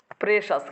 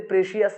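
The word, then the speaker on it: precious: এখানে কি বলতো প্রেস প্রেসাস কি হবে প্রেসাস যেমন আমরা বলি gold is এ প্রেসিয়াস metal না প্রেসিস না প্রেসিস it's very প্রেসিয়াস metal I have ever seen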